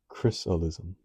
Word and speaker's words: chrysalism: thunderstorm Latin Chrysalis the pupa of a butterfly pronounced chrysalism so I guess I'd say yeah experienced some